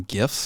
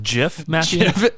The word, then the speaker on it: GIF: to talk about some gifts I got some gifts I was thinking about gifts and not GIF gifts best Christmas gifts I believe that's pronounced Jif it's a gift for Jeff it's definitely GIF it's uh wait what